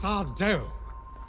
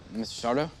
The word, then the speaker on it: Sardo: That's Sardo. No, mister. Accent on the dough. Mr. Sardo?